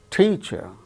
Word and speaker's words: teacher: For instance, the word teacher, teacher. So, there are two syllables. Out of these two syllables, the first syllable is stressed.